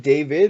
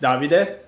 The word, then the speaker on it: Davide: And is it David, or is it a different way to pronounce it? Well, if you want to pronounce it like in Italian, it's Davide. Davide?